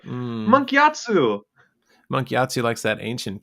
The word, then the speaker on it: Gyatso: I'm sure he says his name differently, but He yeah, says it like Monkey Atsu. Monkey Like Atsu. that's how he kind of how he pronounces it in the show. It's like Mm. Monkey Atsu.